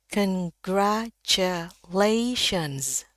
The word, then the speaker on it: congratulations: Jadi shens sh ya bukan shens salah. Jadi dia pendek bacanya. Sekali lagi, congratulations. Congratulations. Jadi, ada bunyi Z. S-nya saya ingatkan berubah menjadi Z.